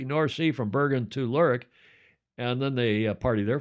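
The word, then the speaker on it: Lerwick: That's pronounced Lurik. I checked with our Fozzy this morning to be sure.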